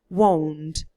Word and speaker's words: won't: have to read W it's actually three sounds won I won't be eating as for the questions